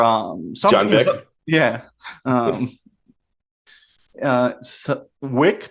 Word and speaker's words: Wick: Bourne or like John Vick or John something. Vick. Yeah. Um, Wick. Did I pronounce it right, or did I go V or W? UNV. I went V.